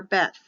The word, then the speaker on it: Beth: letter is B for Beth b-e-t-h or b-e-t both are correct for the pronunciation of the letter but the letter is